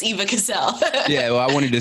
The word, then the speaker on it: Cassel: Is it Cassel or Castle? Cassel. Cassel. Okay, cool. Yep. Everyone, I've gotten Eva Cassel more times than I can count, but it's Eva Cassel.